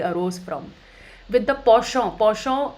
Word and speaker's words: penchant: Penchant is a French word which means a liking. It is pronounced as penchant. We write it as penchant.